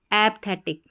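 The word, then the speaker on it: apathetic: एच ची थ और टी आई से टिक एपथेटिक एपथेटिक एपेटिक का हिंदी अर्थ होता है उदासीन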